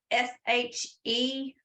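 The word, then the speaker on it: sidhe: or you spelling that s-h-e no it's pronounced she like s-h-e-e but it is spelled s-i-d-h-e s uh d a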